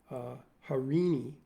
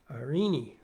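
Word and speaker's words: Eirene: So I chose this ancient Greek word, which I'm going to butcher right now, spelled E-I-R-E-N-E, and presumably pronounced Harini, and it means the personification of peace and harmony.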